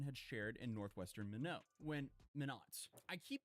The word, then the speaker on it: Minot: Minot. I keep pronouncing the name differently of the place.